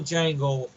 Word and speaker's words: Django: That's like the original Django from the D is silent.